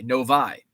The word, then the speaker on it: Novi: It's called Novi or Novi because it was the 6th train stop out of Detroit. No equals number VI is number 6, long I, Novi.